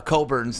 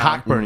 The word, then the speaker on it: Cockburn: loved the hunter dickinson coburn match up the first time around cockburn you always say it wrong it's coburn it's cockburn kofi coburn yeah you have